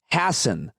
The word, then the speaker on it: Hasen: He said, it's Hasen, like fasten.